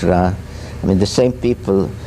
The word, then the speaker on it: Ra: and the Egyptian goldra some say R but it's ra I mean the same